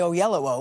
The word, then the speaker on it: Oyelowo: thing is people now know how to say o yellow o when it first came out I'm like how